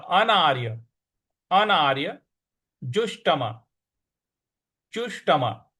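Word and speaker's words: जुष्टम्: य अनार्य अनार्य जुष्टम जुष्टम ज पर छोटा ऊ की मात्रा और षट्कोण वाला श है तो मूर्ध्वा पे जीभ को लगाना है तो अनार्य जुष्टम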